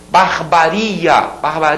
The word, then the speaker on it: barbaria: Barbaria, aquele iria que é tônico.